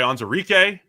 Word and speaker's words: Onwuzurike: Levi Onwuzurike, got the pronunciation right there for Levi.